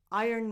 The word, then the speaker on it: Iron: The first word is pronounced iron. Iron. As if the R and the O were inverted. Iron. The word iron is one of the biggest phonetic exceptions.